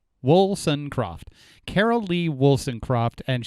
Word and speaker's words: Woolsoncroft: no i'll tell you it's wilson croft it's it's exactly how it looks woolson croft carol lee wilson croft